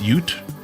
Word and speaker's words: ute: of the Aussie words, ut is pronounced ute, like youth without the th just the lowercase t.